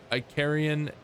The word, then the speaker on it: Icarian: Iicar Iicarian.